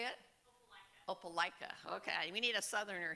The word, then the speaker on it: Opelika: Opelika.